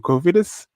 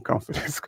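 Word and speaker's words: Cofidis: So then we go to Covidus for finally pronouncing it right because for the longest time I was saying confidence.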